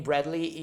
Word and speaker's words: Bradley: pay attention to name usually the name bradley is always written like this so b-r-a-d-l-e-y with the e between l and y bradley yeah you can you don't hear the e when pronounced